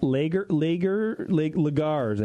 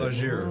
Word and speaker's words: lager: They're called Lagars, I think is how you pronounce it. Lager. Yeah, Lager. Yeah. Like lingerie.